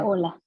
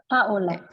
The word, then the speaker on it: Paola: How do you say your first name? Paola. Paola. Oh, you say it so much nicer than me. Paola.